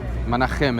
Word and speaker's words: Menachem: Menachem is the correct pronunciation. Yeah. In Hebrew, CH is Menachem.